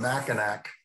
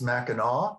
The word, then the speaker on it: Mackinac: So the island that I'm talking about, here it's called Mackinac, but it's actually pronounced Mackinaw, because the French, they leave the C silent.